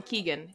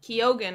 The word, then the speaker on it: Keoghan: keeg kogen I keep wanting to call him Keegan kogen is how you say his last name um